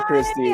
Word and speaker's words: Xtie: interesting artist name and it's not read the same way as it is spelled I'm wondering why you